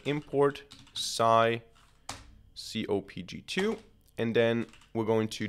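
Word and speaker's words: psycopg: And the package that we want to use here is called scikit-pg. I think this is how it's pronounced.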